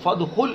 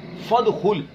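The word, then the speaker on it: فادخل: اب دیکھیے اجتنبا سے پہلے واو آیا تو اب حمزہ ہو گیا درمیان میں. جب یہ درمیان میں آ گیا تو اب آپ اس کو پڑھیں گے نہیں. وجتنبا فدخل، تو یہ نظر آ رہا ہے لیکن پڑھنے میں نہیں آ رہا، اسے کہتے ہیں حمزہ وصلی.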